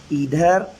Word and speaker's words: either: ठीक है, ईधर नीधर, इसको आप आइधर भी पढ़ सकते हैं, नीधर भी पढ़ सकते हैं। Both pronunciation are right.